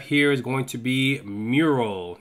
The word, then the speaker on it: Meural: So the last thing that I have here is going to be Meural, not spelled the same way, spelled with the E, M-E-U-R-A-L.